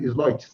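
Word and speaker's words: Sleutjes: Eu fiquei sabendo que pronuncia Aline Sloitz, né? Fiquei sabendo aqui agora. Deputada Aline, me corrija depois. Então, com a palavra, deputada Aline. É Sloitz mesmo, deputada Aline?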